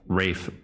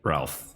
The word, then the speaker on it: Ralph: I'm so sorry that I called Rafe Ralph H I wish I could go back and not say that but why is it spelled with an L it was a pleasure